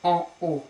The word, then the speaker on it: en haut: Okay, be careful, you can't link here, so you have to pronounce these two words separately. En haut. Usually we link the end and we make what we call a liaison, but in this case, that's an exception, you pronounce the H.